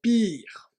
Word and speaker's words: pur: Tu es mon pire. En fait, c'est une déformation du mot pur, car le U se prononce I au Congo.